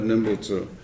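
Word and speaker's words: Nembutsu: in the nen of Nenbutsu. So I always spell it that way, even though when you actually say it, the N turns into an M because it comes before the B.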